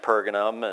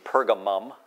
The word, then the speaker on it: Pergamum: than Ephesus and smna and pergam and excuse me pergamum I always want to say that wrong I probably continue to